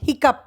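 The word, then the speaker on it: hiccough: like uf cough like oF cough last one is strange there's no h sound or f sound at all it is up sound hiccup hiccup I got the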